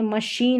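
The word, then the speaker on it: machine: जैसे कि यहां पर देखें मशीन है। इसको मशीन या नहीं पढ़ रहे हैं सी एच को या क भी नहीं पढ़ रहे हैं।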